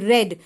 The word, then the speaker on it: read: it read it e it is pronounced as red which is the past tense of read okay so here it